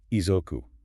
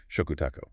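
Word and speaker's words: 嘱託: Labor, and Welfare, and he thought the character was pronounced Izoku. Oh, wow. Yeah, it was only later that he learned it was actually pronounced Shokutaku.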